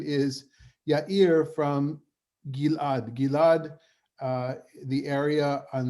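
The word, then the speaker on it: יאיר: These verses, these few verses are what we have about this guy whose name is, I'm going to pronounce it as we would in Hebrew, Yair. Yair.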